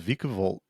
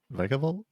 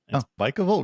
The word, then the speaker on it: Vikavolt: electric and then fighting the end because because viavolt viavolt is that how you pronounce vikavolt yeah vikavolt really I don't think I ever heard it